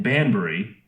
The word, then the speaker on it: Banbury: The facility in Banbury, if I pronounced that right.